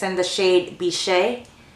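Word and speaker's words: Bichette: it's in the shade bishe I think that's how you say it b i c h e tte e is bishe and I didn't touch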